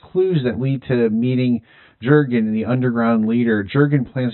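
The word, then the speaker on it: Jürgen: Jurgen and you know the German pronunciation as Jurgen Jurgen.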